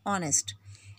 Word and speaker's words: honest: rather this word is honest H is silent and it is producing